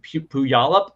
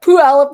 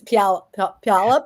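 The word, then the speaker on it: Puyallup: be Summit did I say it correctly in pu yal up um didn't get it correct so close close no p alop is way it should be pronounced it's p palop I always say it wrong tooop before the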